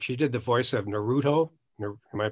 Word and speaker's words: Naruto: of voice work she did the voice of naruto am i pronouncing that right yeah and uh you know